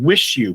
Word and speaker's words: Wixiw: 2012 album by Liars called wish you but it's spelled w-i-x-i-w ah okay okay I